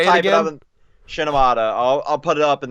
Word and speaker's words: Shimoneta: Shinomata. I'll put it up in the. No, you won't. I'll just fucking spell it right now.